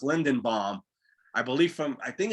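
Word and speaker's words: Linderbaum: And I think his name is pronounced Lindenbaum.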